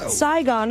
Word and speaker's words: Saigon: It rhymes with bygone. Saigon is right.